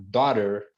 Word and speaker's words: daughter: o GH na palavra em vez de falar Daughter falamos Dog ou neighbor nebor já viu já sentiu